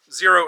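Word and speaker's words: Xero: Zero is spelled with an X, X-E-R-O.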